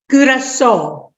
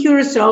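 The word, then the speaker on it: Curaçao: Am I pronouncing correctly? Curacao? Curacao.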